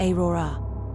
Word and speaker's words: Aurora: I kept having dreams about a woman with long black hair named Aurora, pronounced Aora.